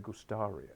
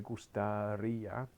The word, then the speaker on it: gustaría: Can you say it with the accent on there, please? Everyone tries to go me gustaría. No, me gustaría, to go, just steal it from there, not the whole thing.